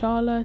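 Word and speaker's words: Çağla: It didn’t take long for Cagla (pronounced Charla) to appear and reveal all in her commentary.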